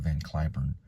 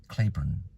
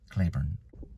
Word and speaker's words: Cliburn: anthem in Arlington at a ballpark and they mispronounced it and said U they called him van curn but it's actually Clayburn like rain clay Clayburn well according to many reporters it's van kurn so I looked up on the IPA on